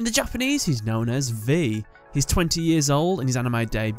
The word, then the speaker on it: V: to his brother's names his name is pronounced as the letter v as opposed to the Roman numeral for five which is different from his